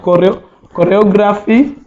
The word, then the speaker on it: choreography: That are written with the letter CH, but pronounced with a K sound. I know my students will all get this. We have words like choreography.